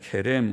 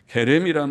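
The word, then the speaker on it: חרם: 히브리 말로는 케렘이라고 말하는데, 케렘 혹은 헤렘이라고도 표기하고 케렘이라고 하는 발음, 히브리어의 거친 발음, 헤렘이라는 이 말은 특별한 뜻을 가졌습니다. 헤렘이란 말은 완전히 멸할 것이라는 뜻을 가지고 있어요.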